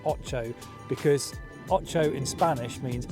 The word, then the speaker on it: Ocho: Now it's called Ocho, it's a bit of an odd name, it's not Ocho, it is pronounced Ocho because Ocho in Spanish means 8, and this lure has 8 sides.